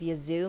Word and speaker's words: Yazoo: And also, am I saying Yazoo right? Yazoo! It's spelled like Yahoo, but with a Z instead of an H.